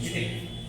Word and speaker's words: chitin: That's the pronunciation, chitin.